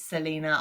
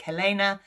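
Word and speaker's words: Celaena: who is an assassin i believe it's selena i started off pronouncing nick helena um but apparently that's wrong um so she um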